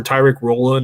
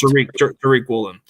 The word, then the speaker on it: Tariq Woolen: Maybe that's where Tyreek Woolen or Tariq. It's Tariq. It's pronounced Tariq Woolen.